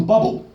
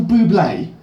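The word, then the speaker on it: Bublé: the one by Michael bubble and I said do you mean Michael Buble she said no is that mispronounced I said yeah why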